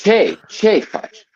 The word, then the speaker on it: Ce faci: Oh, English pronunciation. Spelling. Yeah, like phonetic. Like phonetic. C-H-E. Oh, it's Che fudge.